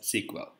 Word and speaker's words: SQL: for structured query language it's pronounced as sequel in this session we